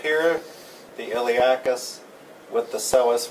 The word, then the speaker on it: psoas: one is called the psoas major so essa' spelled with a P but you do not pronounce the P the psoas major is